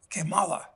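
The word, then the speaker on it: Kamala: name uh but actually neither of them are correct it should be pronounced uh kimala which means in Spanish uh how bad how bad how bad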